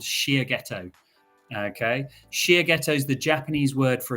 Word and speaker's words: Shiageto: and my company is called Shear ghetto okay Shia ghetto is the Japanese word for a sharpening stone